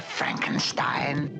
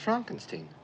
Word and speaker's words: Frankenstein: Frankenstein. Frankenstein. You're putting me on. No, it's pronounced Frankenstein.